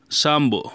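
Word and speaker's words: شامبو: সাবুন মানে হচ্ছে সাবান সাম্ব সাম্ব বলা হয় শ্যাম্পুকে আমরা শ্যাম্পু বলি তারা বলে সাম্বু তারা পকে উচ্চারণ না করতে পারার জন্য সাম্বু বলে টুথপেস্ট একে হচ্ছে বলা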